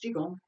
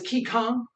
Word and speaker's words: Qigong: So as I'm trying to bring together all of the sessions that I've already taught on the first set in Wudang Qigong, and all of the sets, in fact, the idea of how do we start learning?